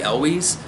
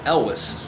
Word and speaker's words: Elwes: coach Boone and Cary Elwes which I always pronounce his name Cary Elwes I had that's how I thought it was pronounced and I just recently found out no it's Elvis who knew Cary Elwes and Princess Bride as